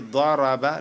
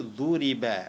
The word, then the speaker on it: ضرب: Mais dans la prononciation, l'autre va dire daraba, l'autre va dire duriba.